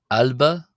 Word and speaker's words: ⲁⲗⲫⲁ: So uh these are how the letters are pronounced. We have alba, alba, wada, wada, gamma, gamma, dal, dal, a